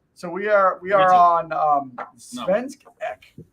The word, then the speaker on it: Svensk Ek: on Svensk Ek, right?